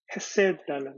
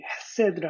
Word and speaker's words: 헤세드: 제가 이 얘기 헤세드를 할 때 해 발음이 완전히 이렇게 가래 끓는 소리 같은 그런 소리가 나야 되는데 근본 제가 그걸 잘 못해서 그렇지만 그냥 영어로 쓰면 그냥 HESED라고 해서 헤세드 그럽니다.